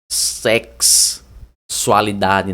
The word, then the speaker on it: sexualidade: se pronuncia sexualidade né ela meio que se pronuncia com K ali né ó é sex né sex se pronuncia mais ou menos assim né ó sexualidade né É mais ou